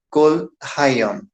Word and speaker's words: kol hayom: Então, a pronúncia ali da palavra é kol hayom.